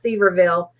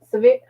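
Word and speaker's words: Sevierville: at moving towards um i never say it right we call it ceverville but it's severe oh y'all know what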